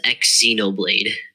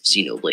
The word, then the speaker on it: Xenoblade: anything right shut up earlier you pronounced Xenoblade as X Xenoblade Xenoblade which yeah Zeno it's Xenoblade X Xeno Blade you're doing the X Xenoblade it's just Xenoblade there's no X I mean there is